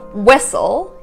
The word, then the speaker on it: whistle: Whistle. Again, it's there. You just don't really enunciate on it.